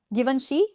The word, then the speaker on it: Givenchy: Givenchy?